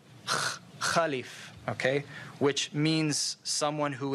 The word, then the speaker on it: caliph: rightly guided caliphs okay we say car leaves it comes from the arabic word khalif okay which means someone